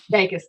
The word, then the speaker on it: vagus: Vagus nerve, which is really Vegas.